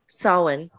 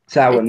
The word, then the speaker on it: Samhain: it today Samhain yeah sowon sowon s1 it's it's spelled Sam Sam hey but it's it's Owen wait yeah it's like it's like you're you're you're you're someone a button onto a shirt yeah but I I